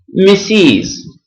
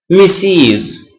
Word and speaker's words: Mrs: to women okay uh number two we say misses misses Ms is pronounced Ms it is a form of address